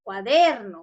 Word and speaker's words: cuaderno: No, la mayor fuerza de voz debe ir en la DER, cuaderno, muy bien.